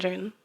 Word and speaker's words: Ramachandran: Ramachandran.